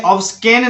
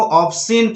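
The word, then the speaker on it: obscene: उसके बाद है ऑब्सिन, ऑब्सिन में ऑब्सकेन नहीं पढ़ना है आपको, ऑब्सिन पढ़ना है, क्योंकि यहां पर भी एस के बाद सी आ रहा है।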